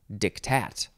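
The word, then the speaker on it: diktat: word pardon me dictat actually you emphasize the second syllable so it's dictat it's just d i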